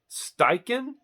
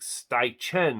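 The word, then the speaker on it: Steichen: have a brain fart steiken s-t-e-i-c-h-e-n now by that spelling I would not think it'd be pronounced steiken I thought it would be pronounced like staichen or something but anyway yeah like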